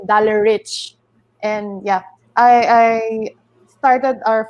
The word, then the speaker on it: Dalareich: released loud like I they pronounce my name like dollar like in the me in the Philippines is actually dollar rich and yeah I started